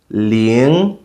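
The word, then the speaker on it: 零: 0 is pronounced ling, ling. So that's the second tone.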